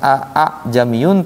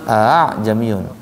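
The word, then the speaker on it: a'jamiyyun: Bacanya bukan a jamiyun tapi a jamiyun. A yang pertama jelas dibaca a, yang keduanya enggak jelas. A jamiyun. Kayak digeret gitu ya.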